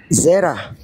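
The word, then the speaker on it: זרע: Sperm apanya bacanya? Ze ben Zera. Zera sperm nih. Tuh Zera tuh. Kalau enggak percaya kita kita dengarin aja nih. Mana nih suaranya nih? Wah, enggak bisa dibuka nih. Nah, tunggu bentar. Sperm sperm. Ininya nih yang Ibraninya. Jadi dibacanya zera ya. Sperm sperma itu adalah zera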